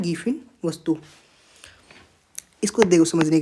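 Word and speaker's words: Giffen: यानी जो रोजमर्रा की आवश्यकता पूर्ति करते हैं उनको बोलते हैं गिफिन वस्तु। इसको देखो समझने के लिए, गिफिन टिफिन है ना, गिफिन का प्रोनाउंसिएशन करते हैं तो टिफिन की तरह निकला ना, गिफिन टिफिन।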